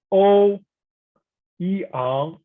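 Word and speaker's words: Ouyang: First one, O Yang, O Yang.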